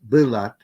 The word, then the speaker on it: balat: And then Tagalog balat is a borrowing from the Central Luzon axis, but the form is actually pronounced bilat for skin.